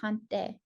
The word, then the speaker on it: haŋte: So tonight we're talking all about haŋte.